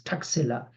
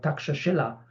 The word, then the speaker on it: Takshashila: okay again the European name has been uh mispronounced as takila or the official name is called takshashila t a k s s h i l